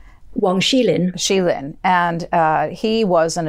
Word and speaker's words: Wang Xilin: Wang Xilin.